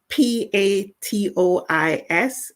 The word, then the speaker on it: patois: And PATOIS is pronounced patois. It's a French word.